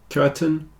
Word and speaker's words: curtain: continue curtain and certain the AI sounds a bit like e in these two words curtain certain the reason is the stress is on the first syllable so the second syllable tends to get contracted down a bit and in this case it's a little bit like an e curtain certon whereas these two captain